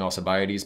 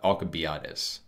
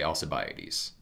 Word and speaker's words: Alcibiades: alcibiades attention and so the way that i'm pronouncing alcibiades by the way is the standard english pronunciation in greek it would be closer to uh alcobiatus something like that but i'll say alcibiades um this impediment has